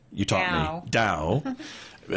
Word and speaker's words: Tao: It's pronounced you taught me DAO and you have it standing for team